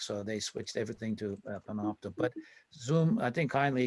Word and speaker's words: Panopto: Actually, it's called Panopto. Panopto. I think they call it Panopto. Could you spell it?